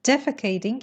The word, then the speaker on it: defecating: in the oven defecating the stresses on the first syllable defecating in the open eating